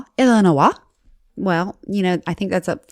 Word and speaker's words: Illinois: I'm pretty sure it's pronounced Illinois. Illinois.